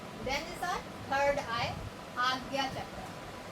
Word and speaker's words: Ajna: Then is our third eye, Agya chakra. So it's written A-G-J-N-A but pronounced as Agya. Agya chakra.